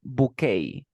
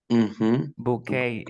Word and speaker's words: bouquet: the word in English because this is a French word we say bouquet bouquet then we have for